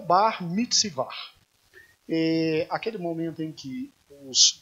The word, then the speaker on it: Bar Mitzvah: Assim eles pronunciam. O que é o Bar Mitzvah?